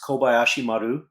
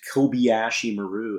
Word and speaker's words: Kobayashi Maru: If you've ever spoken Spanish or German or other languages where the vowels always maintain the same sound regardless of their position in a word, why is it that you can get Kobayashi to be Kobayashi?